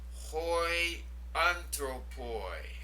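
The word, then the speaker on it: οἱ ἄνθρωποι: The next word, hoi anthropoi. Now that first word is the definite article, the, and it has the rough breathing over the iota. So here's where we put the H sound in.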